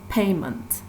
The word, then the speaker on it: payment: So here the stress is on the first syllable, pay, payment.